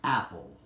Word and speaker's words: Apple: The correct pronunciation is apple.